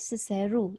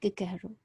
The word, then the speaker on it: Cicero: Mr. Weatherby said Cicero, not Cicero.